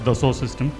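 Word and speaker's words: Dassault Systèmes: While it is written as the sword, it's a French name. So it's it's been pronounced as the source system.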